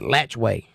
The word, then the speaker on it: Alachua: can't even pronounce that I lived in a town once that was spelled Alachua a-l-a-t-c-h-u-a Alachua and everybody there called it latchway latch way this is Florida that's